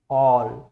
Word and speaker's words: who: जैसे यहाँ पर आप देख रहे हो WHO, तो इसमें W साइलेंट है, ठीक है।